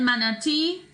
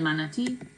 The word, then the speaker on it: manatí: El manatí, basically pronounced the same way with a little bit of a stress on the end. El manatí.